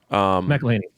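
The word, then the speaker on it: McElhenney: McElhaney.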